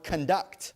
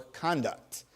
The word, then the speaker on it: conduct: Incorrect, looking for conduct, or conduct, two pronunciations, different meanings.